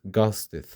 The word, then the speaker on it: ghosted: The word ghost, which ends in a T sound, becomes ghosted. We add an extra syllable and pronounce the ed sound.